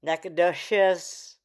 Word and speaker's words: Nacogdoches: Nakados. Oh, it's a hard ch like cheese.